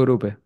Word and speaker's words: Grupe: Grupe con dos P, Grupe con acento en la última E.